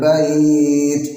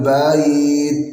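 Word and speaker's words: بَيْت: Falyabudu rabb hadzal bait, bukan falyabudu rabb hadzal bait. Bait, lah itu ada hamzah yang dibaca sepertiga, tapi bait ya sukun bukan hamzah. Bait seolah-olah ada hamzah di situ, yang bacanya dibaca sepertiga. Bait, tapi bait.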